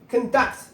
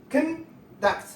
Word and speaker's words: conduct: Conduct. Conduct. The first syllable is stressed.